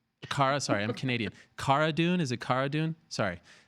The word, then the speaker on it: Cara Dune: for me okay so Kihara dune like Carano Cara dune okay and there she